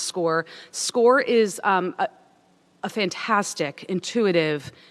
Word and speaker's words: SCOIR: That's the SCOIR. It's pronounced SCORE.